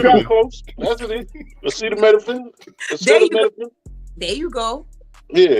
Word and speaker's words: acetaminophen: Acetaminophen. Oh, not no you got cinnamon. close. That's it. Acetaminophen.